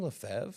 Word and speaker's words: Lefevre: until recently I realized I was mispronouncing your name it was actually Siri that corrected me yes when I hollered out the Siri to give you a call and she pronounced it leev and I think that was my first question when you answered the phone yes is this is your name leev yes and you said yes it was yes it is okay